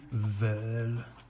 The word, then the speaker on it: veulent: And ils veulent. Remember, you never pronounce that ENT.